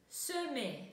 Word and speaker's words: semer: Semer. Вспоминаем, что буковка в открытом слоге читается как окончанию это и, да, semer.